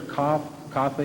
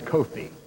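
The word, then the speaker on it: Kothe: Is it Professor Coffee? Well, you used the Pennsylvania Dutch pronunciation. Actually, it's Kofi.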